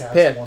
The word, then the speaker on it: pet: See, like in French the word for fart is but in slang, especially in Quebec, you pronounce the T. So it's pet.